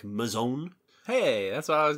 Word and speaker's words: Mazon: noticed i do not i have heard the name maison creek pronounced in a number of different ways i'm pretty sure i've heard it pronounced mason um i think i read one paper that suggested that the the traditional pronunciation should be something like mazon hey that's what i